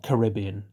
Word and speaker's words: Caribbean: This time, the Caribbean, or Caribbean, if you're American and you prefer that pronunciation, but it makes no sense to me.